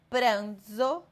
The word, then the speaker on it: pranzo: Quando tiver som de D e Z, pranzo e zo.